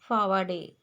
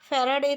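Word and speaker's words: Faraday: वड call himself फावडे अब जैसे कि उनका नाम फैराडे था लेकिन व अपना खुद का नाम भी सही तरीके से प्रोनाउंस नहीं कर सकते थे और खुद को वह फैराडे के जगह पर फावडे ऐसे बोलते थे अदर चिल्ड्रन लाफ एट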